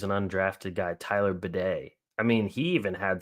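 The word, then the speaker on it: Badie: and the thing is it's spelled b a d i e so in my head I'm like oh batty baddy like something and they're like no bed I'm like damn he's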